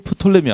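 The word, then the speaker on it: Ptolemy: 이집트와 그 다음에 팔레스틴을 다스리는 나라가 여러분이 잘 아는 톨레미 왕조 혹은 프톨레미 왕조. 피가 묵음인 게 있고 묵음이 아닌 경우가 있어요. 그래서 어디는 프톨레미, 어디는 톨레미라고 하는데 그래서 이스라엘 지도를 놓고 보면요.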